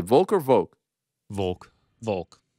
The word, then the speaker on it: Volk: What do you guys say, Volk or Volk? Volk. Volk. But it's folk. Yoke. Yeah, but it's coming from Volkanovski.